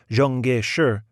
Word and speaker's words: Chiang Kai-shek: Then he made quite a speech about Sun Yat-sen and the wonderful work Chiang Kai-shek, which he pronounced Zhongge-shi, had done, and the traditional friendship between the United States and China.